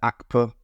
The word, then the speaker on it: ACPA: Now, I've created something called the ACA framework, or in this case, the ACPA framework. The P is silent, and I'll show you exactly what that is in a minute.